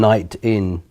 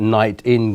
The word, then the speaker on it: Nitin: you pronounce your name nian as in night in as in n n yeah and that's my surname I would pronounce it night in have you have